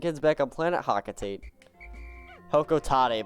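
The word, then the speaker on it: Hocotate: Hokotate, but I hate that pronunciation so much that I refuse to use it.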